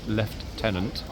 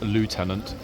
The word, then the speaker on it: lieutenant: am well aware that it is left tenant uh the British pronunciation and not Lieutenant uh the US uh American pronunciation um so there we